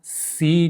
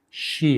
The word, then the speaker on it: し: هست که اشتباه نکنید سا سی نیستش شی هستش اینا استثنا هستش یعنی وقتی میگید سا